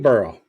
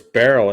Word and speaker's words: Beryl: I thought it was barl at first but it was Burl I could never pronounce it so like hurl but Burl yeah okay so I